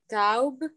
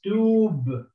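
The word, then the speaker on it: توب: No, you cannot say taub because you have a dhamma here. Once you have a dhamma here, it has to be u. Okay, and the wow here, it elongates the movement.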